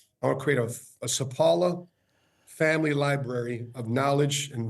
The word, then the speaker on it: Sapaula: By the way, ever since I was growing up, everybody pronounced my last name wrong. Sapaula. The worst one is spatula.